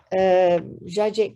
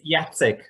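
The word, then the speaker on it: Jacek: our last speaker is jajek so am I pronouncing your name well more or less it's yatzik yes but all the rest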